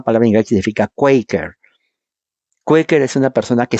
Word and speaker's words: Quaker: Nunca se pronuncia en español Quakers, de donde viene el Quaker que uno toma.